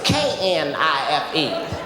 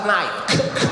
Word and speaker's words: knife: Yes, that would be knife. Knife. This is what she told me in front of the whole class. She said the K is silent.